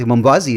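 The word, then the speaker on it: Mwambazi: get this right so it was spelled m-w-a-m-b-a-z-i and i'm like how do you pronounce it right and it's it's something you learn like mambazi it's like cool so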